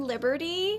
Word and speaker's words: Liberti: people um but i i pronounce my name liberty but you cannot go